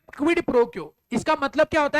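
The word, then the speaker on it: quid pro quo: नीचे एक टर्म आ रहा है, जरा पढ़ो, इसको प्रोनाउंस करो, जोर से बोलो, क्या? क्विड प्रो क्यो, जोर से बोलो, क्या?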